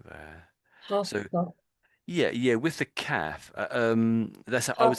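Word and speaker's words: half-caf: Half cuff. Half cuff. So it's more calf. Ah. The a the vowel is more ah.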